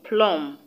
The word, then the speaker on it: plum: other it is bomb the b in plum is not also pronounced so please note that